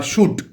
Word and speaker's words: should: যেমন এরকম ওয়ার্ড আমরা জানি ওয়াক, WALK, এলের কিন্তু উচ্চারণ হয় না, বা শুট, SHOULD, শুট।